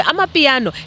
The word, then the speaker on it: Amapiano: Let me say it properly, not the fancy way. Amapiano has not only brought